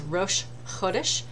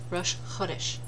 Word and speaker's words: Rosh Chodesh: That one I've learned to say right. I've been corrected. Is Rosh Chodesh. Emphasis on the first syllable, the way you should say it. Rosh Chodesh.